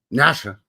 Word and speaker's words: Natchez: So, yeah, we're going to be looking at Natches or as the locals would just pronounce it, Nasha.